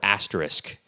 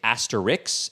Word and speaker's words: asterisk: terms of grammar is it concerns the word asterisk. Some people say asterisk, and some people say asterisk, or some people say asterisk, and I'm like, you guys, Like a singular asterisk. how is this spelled? It's asterisk, and I think apparently, technically, a few of those Asterisk. are acceptable pronunciations, but come on, Come people.